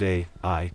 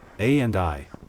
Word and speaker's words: Ai: There once was a town named Ai in Fulton County, Ohio. No, that is not a typo. Ai, pronounced as it is spelled, A and I, was founded in the 1840s, and was about 25 miles west of Toledo.